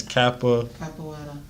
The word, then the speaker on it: capoeira: It's Capoeira.